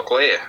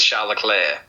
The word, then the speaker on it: Leclerc: it in pretty pretty good fashion from shall Locklear say or Chuck Charles Leclerc I'm not hearing pronounces his name I've heard several different different pronunciations I'm still going with Charla Claire that's you know to say that you convincingly